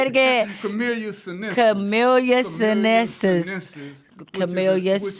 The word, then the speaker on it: Camellia sinensis: Camellia sinensis.